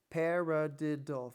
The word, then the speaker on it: paradiddle: Paradiddle. Four syllables. Parad. This is a paradiddle.